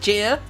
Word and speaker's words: Chyr: I think is how it's pronounced. CHYR. That's what it is. Yeah, I wouldn't be able to do better. So I think we'll go with Cheer.